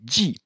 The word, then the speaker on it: 系: Donc dans Mei guan si, il perd son ton. Là, quand il est tout seul, il se prononce si. Bon, ici, il se prononce aussi ji, qui signifie attaché.